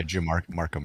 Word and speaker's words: Drew Markham: I think he was game designer, maybe developer lead, Drew Markham. Did I pronounce it correctly? Yeah, Drew Markham.